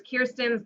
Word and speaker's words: Kirsten: to say my name it's Kirsten and I want to avoid saying it's like a curse look like I don't